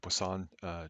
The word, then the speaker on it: Poisson: to run binomial and Poisson distributions and it looks like poison but I believe it's pronounced with the French pronunciation of plus all but